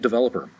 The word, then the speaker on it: developer: So let's look at developer. Developer is a noun. Developer, the word has four syllables. Developer. The accent is going to be over the developer, over the second syllable, developer.